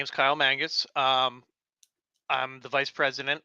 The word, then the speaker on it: Mangus: um I do have a special guest Kyle Mangus I'm hoping I'm pronouncing that right you did it perfect thank